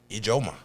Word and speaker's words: Ijoma: How did you pronounce last name? Ijoma. Ijoma. Thank you. Yeah, it's like Umbuku.